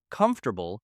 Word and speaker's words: comfortable: For example, comfortable is often difficult because learners try to pronounce every written letter separately.